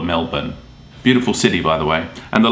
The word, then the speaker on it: Melbourne: the one that's actually most people get pronounced wrong is Melbourne. Now, of course, you want to say Melbourne because that's how it's spelled, but for some reason, we call it Melbourne.